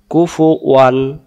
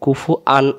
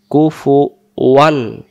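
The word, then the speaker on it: كُفُوًا: ওয়ালাম ইউলাদ, তারপরে ওয়ালাম ইয়াকুল্লাহু, এই হু এগালিফ কুফু ওয়ান। এই জায়গা আমরা ওয়াও না ওয়ান না পড়ে আমরা বলি কুফু আন আহাত, কুফু আন।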